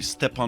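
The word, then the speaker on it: Stéphane: both ways is it Stefan or stepan well people kids call me step on my toe so step and but people also call me Stephanie because of the e at the end so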